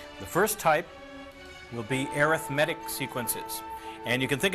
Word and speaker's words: arithmetic: Notice how I'm pronouncing that. It's not arithmetic. It's arithmetic.